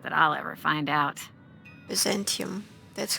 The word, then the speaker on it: Byzantium: automated there not that i'll ever find out byzantium that's how you pronounce it in english it's for the story